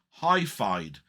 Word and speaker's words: HiFyed: The one I saw was from a channel called Hi-Fied, which is spelled HIFYED.